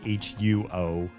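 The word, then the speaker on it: 火: The pinyin would be like HUO with like a little dip diacritical over the O, which would be pronounced huo, which means fire in Mandarin, right?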